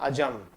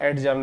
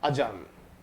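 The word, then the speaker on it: adjourn: यहाँ D silent होता है, सही प्रोनाउंस होता है अजर्न, बाकी का ज्यादातर एडजर्न एडजर्न बोलते हैं, प्रोनाउंस सही होता है अजर्न।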